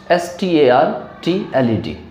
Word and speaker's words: startled: Next है आपका स्टार्टल्ड, स्टार्टल्ड, STARTLED, STARTLED, स्टार्टल्ड, स्टार्टल्ड। आर के बाद आपको टी मिलेंगे इसमें, तो आर को साइलेंट किया जाएगा क्योंकि आर के बाद टी जो है वो कॉन्सनेंट है।